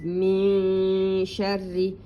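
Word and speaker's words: من شر: you, it is hidden, the noon is hidden, as if you say ing, ing, it is the same. Your tongue is between up and down. So it is min sharri, and it's a thin one.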